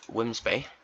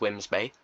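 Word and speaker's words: Wemyss Bay: up North this is um the it's called whimsby I know it's spelled when we s May but it's whimsby it is a station in Scotland grade 2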